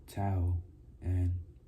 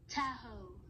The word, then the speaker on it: Tahoe: Early on in the serenely blue morning of Friday the 20th, they left to taho to taho. Feel like I'm saying it wrong. Tahoe. Tahoe.